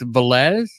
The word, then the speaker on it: Velez: pronouncing your name right it's valz yes it is you got it right all right awesome so